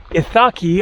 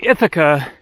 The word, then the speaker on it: Ithaca: online looking for things to see here on itaki also called ithaka ithaca as in ithaca new york named after this island i guess i'll stick to ithaca for the name of the island because that